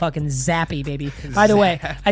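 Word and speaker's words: Zappe: the video was Bailey I kept calling him zap I was getting a night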